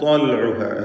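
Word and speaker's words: طلعها: വനഖ്ലീൻ എന്നതിലെ തൻവീൻ ശേഷം ത്വാ വന്നതുകൊണ്ട് ഇഖ്ഫാ ഹഖീഖി നൽകി മറച്ച് മണിക്കുക. മണിക്കലിൽ തഫ്ഖീമാണ്, കാരണം ശേഷമുള്ള ത്വാ ഇസ്തിഅലാന്റെ അക്ഷരമാണ് എന്നതുകൊണ്ട് വനഖ്ലിൻ ത്വൽഉഹ എന്ന് ഉച്ചരിക്കുക. ത്വൽഉഹ ഹദീം.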